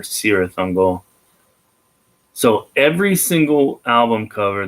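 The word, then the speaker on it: Cirith Ungol: forever black by cyrus not to be confused with kirith hungal that's how they pronounce it in the tolkien book but for them they're serious uncle so every single album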